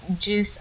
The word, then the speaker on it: juice: to word We've Got Juice o that's right the E following a c makes the Soft C sound so it makes it juice here we see at